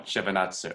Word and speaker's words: Shevardnadze: Could I just very quickly, how do you pronounce the last name? Let's Schultz or Shevardnadze? That one, Shevardnadze.